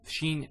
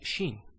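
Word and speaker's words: شين: So Shin is pronounced as sh. So it's like when you tell somebody to be quiet, you say shh. That's the Shin.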